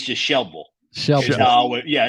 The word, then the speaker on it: Shelbyville: I would live there the Y is silent right It's Just shille sh yeah it's just Shel way say that one more time shille I like it Louisville